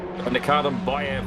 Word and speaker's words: Nikardin Bayev: Nikardin Bayev, ladies and gentlemen, that is the correct pronunciation.